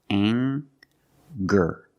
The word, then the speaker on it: anger: We have the nasal sound plus the hard G, the G sound. Together, anger.